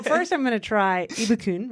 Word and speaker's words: Ibukun: Ibukun. Ibukun, I also go by IBK. I saw that. So first I'm going to try Ibukun, right?